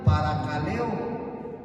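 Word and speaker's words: παρακαλέω: divide en dos se es una palabra que se pronuncia para caleo así todo junto para caleo Eso significa exortar para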